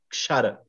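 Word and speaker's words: क्षर: Kshara. Put your tongue on the roof of your mouth, the base of your tongue. Kshara.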